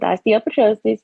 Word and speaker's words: osteopetrosis: I was diagnosed with osteopetrosis and you said it right by the way I know it's kind of hard but no that was right and what is is